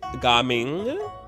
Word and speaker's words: Gaming: And now I know it's Gaming.